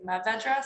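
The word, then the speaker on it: Mourvèdre: I see an R in there. It looks like it's Mourvedre, but every time you pronounce it, you say Mourvedre, so I'm gonna go with that. That's French. Okay, all right.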